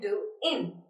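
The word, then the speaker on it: doing: हाउ आर यू डूइंग आपने देखा जब मैंने प्रोनाउंस किया गोइंग एंड डूइंग तो उसमें जो गोइंग है वो शर्टन होकर हो गया गो इन और जो डू इंग है वो शॉर्ट होकर हो गया डू इन ठीक है सो व्हेन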